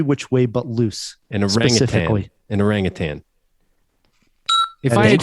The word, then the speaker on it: orangutan: Yeah, because it is a orangutan, as you say. An orangutan. Orangutan. You say it wrong. There's no G.